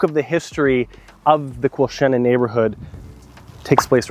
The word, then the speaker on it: Quilchena: The non-locals will pronounce it Quilchena, but today we visit beautiful Quilchena, Vancouver.